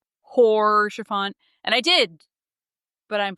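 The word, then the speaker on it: Haurchefant: I know she also she noted that I pronounced orchant I since corrected it as hor shaant like hor shaant and I did but I'm pronouncing it better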